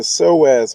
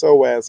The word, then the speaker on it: psoas: of people get surgery because this muscle, this psoas muscle, and you see how it's spelled Psoas, and it's pronounced psoas.